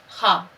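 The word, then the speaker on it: خواب: हमने लिखा ख्वाब, पर यहाँ क्या है, इससे पहले मैं आपको वो वाव सिखा चुकी हूँ कि जो खामोश रहता है, पर इसमें आप देखिए खे वाव अलिफ बे ख्वाब।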